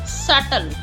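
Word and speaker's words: subtle: com lamp B silent lamp thumb thumb dump dump नहीं होता dump doubt doubt सटल सटल doubt सटल इसमें B silent है सेटल सी silent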